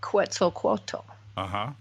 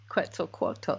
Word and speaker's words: Quetzalcoatl: The first word that Einstein ever said to me was, and I will not pronounce it probably correctly, but Quetzalcoatl.